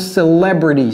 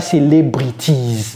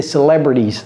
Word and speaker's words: celebrities: celebrities for example ça ça se prononce celebrities celebrities si vous n'avez pas encore regardé ma vidéo sur les 4 t américains allez regarder cette vidéo ceci n'est pas célbrities c'est celebrities ok celebrities they more